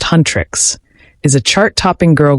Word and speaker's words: Huntrix: The K-pop band Hunter/X, pronounced Huntrix, is a chart topping